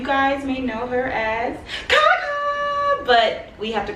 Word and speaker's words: CahCah: You guys may know her as CahCah, but we have to call her Kayla because if y'all don't know, she doesn't like me to call her CahCah.